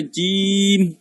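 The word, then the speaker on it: ج: তারপরে জিম, তাহলে জিম কোথা থেকে উচ্চারণ হচ্ছে, আমার জিহ্বার মধ্যভাগ তার বরফে তার সঙ্গে লাগে জিম, যেহেতু মিমের মতো ম আছে মিম, এই জন্য শেষে এসে আমার টুট 2টা বন্ধ হয়ে যাবে।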